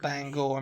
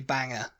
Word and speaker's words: Bangor: bang phonetically yeah yeah they they pronounce apparently Bangor up there oh Bangor bangorang Bangor M Bang go or main yeah so like whereas like a British person would probably say Banger you know yeah B